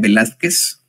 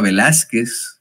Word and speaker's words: Velázquez: Porque no le pusieron acento a Velázquez, es palabra grave, que termina en consonante, pues tendría que ser, si es Velázquez, pues tendría que llevar acento en Velázquez, ¿no?